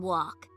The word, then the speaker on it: walk: You don't hear the L sound in walk. So the L is the silent letter. Yep. The letter L is usually silent when it comes before the letter K.